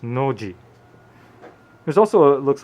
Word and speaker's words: Nozi: called noji it's actually noji but it's spelled nosy for some unknown reason in romanized script but in japanese it's pronounced noji there's also it looks